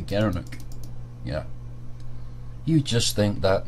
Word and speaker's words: gerenuk: gara gara knock overload he pronounced as a gerenuk the gerenuk yeah you just think